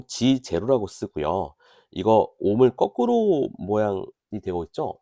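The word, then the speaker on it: mho: 이거 옴을 거꾸로 모양이 되고 있죠. 이거는 모라고 읽어요.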